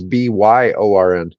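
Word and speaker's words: Björn: Bjorn. But Yeah, yeah, all the Scandinavian countries pronounce that like it was Byorn.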